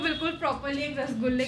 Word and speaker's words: रसगुल्ला: तो वापस आते हुए हमारी नेक्स्ट रिक्वेस्ट थी रसगुल्ला। आई गेस इसको ऐसे ही प्रोनाउंस करते हैं बट दिल्ली में फॉर सम रीजन सब इसे रसगुल्ला बोलते हैं। लाइक मैंने बचपन से रसगुल्ला ही सुना है तो मैं भी ऐसे ही बोलती हूँ।